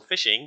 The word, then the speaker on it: phishing: fishing uh so so fishing pronounced exactly like fishing right is is when